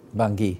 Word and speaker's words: Bangui: So, because of the monetary constraints that still definitely plague Africa, is the Bangui sorry, tell me one more time. Did I pronounce it right? Bangui.